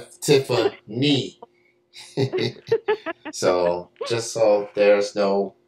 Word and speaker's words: Tiffaney: That's N-E-Y, not nay, knee. Tiffany.